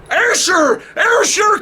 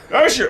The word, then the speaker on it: Ayrshire: Ayrshire coast of Scotland, which is on the west coast. I'm getting it, Gordon. Ayrshire. What's it? Ayrshire.